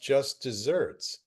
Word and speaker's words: Just Deserts: in English colloquialism and it's spelled deserts but it's pronounced desserts it's really weird wow